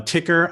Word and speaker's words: Tykr: creating this company uh of um of uh ticker i want to say i want to call it something else because it's spelled different so how is this spell let's